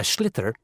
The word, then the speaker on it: sliotar: This is what it looks like, and basically you have to get this ball, called a sliotar, that's S-L-I-O-T-A-R, so it's not spelt the way it's pronounced.